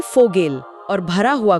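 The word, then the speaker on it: Vogel: का क्या है हां तो वी का उच्चारण हमेशा फ होता है जैसे अंग्रेजी का एफ हमेशा फ हमेशा जैसे पिता के लिए शब्द है वाटर जिसे हम बोलेंगे फाटर फाटर पक्षी को वोगल यानी फोगेल और भरा हुआ को फॉल यानी फोल।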